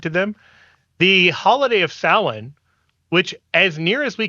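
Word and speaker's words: Samhain: ancient pan Celtic Pagan festival called sa spelled like Sam Hayne and none of that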